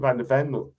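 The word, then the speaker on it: van de Ven: Am I pronouncing his name? Van der Ven?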